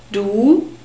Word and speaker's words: du: Du, and you use this form for friends or members of your family. Du. We have a long U sound. It's a very close sound. U, and the inner surfaces of your lips are exposed.